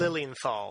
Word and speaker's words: Lilienthal: How do you pronounce your last name? Lilienthal. Lilienthal.